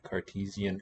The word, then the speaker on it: Cartesian: word and then you apply the usual english stress rules it's before the syllable before the en suffix is added gives you a long e teasing cartesian cartesian but as far as